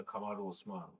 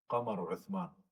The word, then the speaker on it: Kamaru Usman: You've got the MMA fighter Kamaru Usman. His name should be pronounced as Qamaru Uthman.